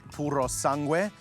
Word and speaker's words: Purosangue: In Italian, they call it Puro Sangu, but you're probably thinking I sound like an idiot when I say it like that, but that is how it's pronounced.